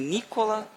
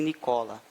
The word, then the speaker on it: Nikola: vida dele nikola tesla alguns dizem nicola outros dizem nicola mas tanto faz não tá errado nenhuma pronúncia nem a outra porque ele cola até da ilha de origem sérvia e o nome dele foi americanizado e depois fui lá utilizado então tanto faz se nicola o único na terra nicola